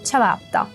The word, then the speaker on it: ciabatta: Temos dois T's, então temos uma pausinha. Vamos começar pelo final. Tá. E depois temos o cha, que é o mesmo tchau do tchau. Vamos juntar tudo.